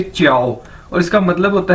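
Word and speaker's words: 叫: आपने पहले भी देखा है कि जे को हम चे के तौर पर इसको प्रोनाउंस करते हैं, यानी जे चाइनीज के अंदर चे के तौर पर प्रोनाउंस किया जाता है, बोला जाता है। तो JIAO ये चाइनीज वर्ड है और इसको कैसे बोलेंगे? च्याओ।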